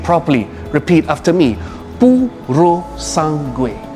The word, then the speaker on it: Purosangue: Now, before we get into details about the Purosangue, let me teach you how to pronounce its name properly. Repeat after me. Purosangue. Purosangue.